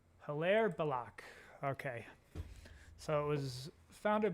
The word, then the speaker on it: Hilaire Belloc: Pronunciation. Hilaire Belloc. Hilaire Belloc. Hilaire Belloc.